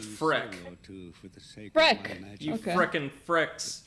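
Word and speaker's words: Freke: My name is Frick. I am known as a sage. Oh, wow, both of us pronounced it wrong. It's just Freck.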